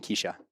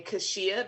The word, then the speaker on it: Keshia: But a lot of people pronounce my name Keshia because of the way it's spelled.